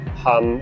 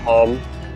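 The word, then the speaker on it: không: h o n g it's pronounced more like hum or hum and just any vendor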